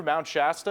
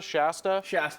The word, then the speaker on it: Shasta: the the part through Mount Shasta that's how you say it right Mount Shasta Shasta Shasta over there think of the drink you know she has to drink Shasta yeah there you